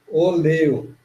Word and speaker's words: oleo: não ser na pronúncia, porque é oleo. Para nós é óleo, né? Em Esperanto é oleo, porque toda a pronúncia é paroxítona.